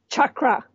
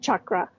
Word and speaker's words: chakra: Okay, let's first learn how to pronounce the word chakra. Okay, it's pronounced chakra, just like Chuck E. Cheese's pizza.